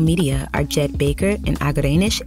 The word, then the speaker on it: Agerenesh: Executive Producers from Starglow Media are Jed Baker and Agerenesh A. Palmer (pronouncer: Ah-guh-ray-nush).